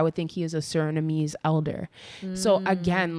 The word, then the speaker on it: Suriname: Another person from, I believe the country is pronounced Suriname. She was, or he or she was like, I'm from Suriname, I understand everything this man said.